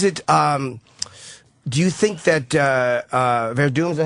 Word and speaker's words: Werdum: Do you think that Werdum, is that how you say his name?